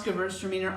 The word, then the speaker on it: Gewurztraminer: see somebody saying that girls are meaner or girls or wieners that's a good way to remember how to reverse how to pronounce Gewurztraminer I love that you